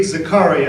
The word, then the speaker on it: Zakaria: In the midst of a lively televised exchange between journalist Fareed Zakaria, as is pronounced on CNN, and neuroscientist Sam Harris on